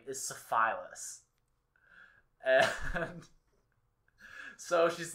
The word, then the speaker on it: syphilis: pronounced syphilis.